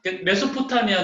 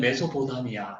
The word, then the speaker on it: 메소포타미아: 생겨나는 야 왜 뭐냥 메소포타미아 안 돼 이게 이게 원래 발음 인데 우리 성경에는 매수 보다 미야 유대 있어요 그 경험을 하지